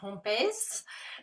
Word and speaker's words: Hompes: because I was like Dave how do you say your last name and he was like it's dutch he was like but just say it like I'm Latin so there so there